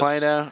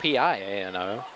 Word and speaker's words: Plano: Plano. Oh, I'm not from Texas. That was the one it's spelled it's Plano, not Piano. It's a Plano, right? Like Plano, Texas.